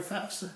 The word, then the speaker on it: FAFSA: The word is FAFSA, F-A-F-S-A, the Free Application for Federal Student Aid. For some reason, people by the gajillions like to pronounce it FAFSA. I hear FAFSA all the time. It's just after you hear it a billion times, you get annoyed with it. So it's actually the FAFSA.